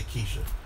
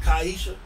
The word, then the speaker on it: Kaisha: Because I say Keisha. You can call me Keisha. But what? No, say how you say. Kai. Is it Kaisha? Yes, sir. Listen, man.